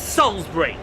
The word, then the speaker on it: Salisbury: __ ] I know Sal Salsbury Salisbury it's Salsbury the eye is silent Salsbury yes Salsbury you